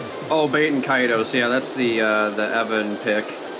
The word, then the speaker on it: Baten Kaitos: I've always been interested in, I think I'm pronouncing this right, Baten Kaitos? Oh, Baten Kaitos, yeah, that's the Evan pick.